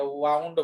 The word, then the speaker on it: wound: वुंड नहीं है, ये वाउंड है।